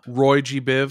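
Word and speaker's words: Roygbiv: here in a minute and how do you pronounce that probably their most famous piece from that famous album roy viv roy g biv so it has to do with the colors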